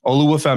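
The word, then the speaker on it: Oluwafemi: he goes by femi olua fi is how you say his first name but a lot of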